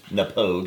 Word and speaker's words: Knappogue: it pronounced that way it's with a K npog the K is silent now us as dummies